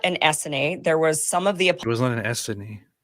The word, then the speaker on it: Essene: But like, it's a scene. Like, this is like one of those basic terms that most people know. No, it's Essene.